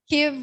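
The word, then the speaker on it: Kyiv: Kiev, sorry, we were all learned to call it Kiev. To go with the Ukrainian pronunciation.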